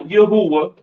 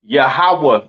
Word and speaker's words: Yahawah: Hebrew all right yahawah is not yahwa all right it's not not uh uh what else some you fake Israelites be saying all right it's not Yahweh uh it's not Yahweh right it is pronounced yahawah in the Hebrew all right yahawah in the Hebrew okay yall can see that